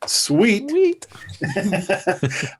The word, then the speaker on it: CEWT: education workforce training, or as we like to pronounce it, SEWT, you can hold us on our website, which is cetrain.isu.edu.